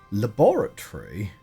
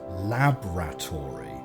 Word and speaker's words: laboratory: pronunciation is somewhat phonetic laboratory I I hear very very often as laboratory laboratory which would be like La R and you sort of drop the O which I find a